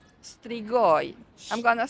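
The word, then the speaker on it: strigoi: Wait, how do you say strigoy? I'm going to spell it out for you in writing.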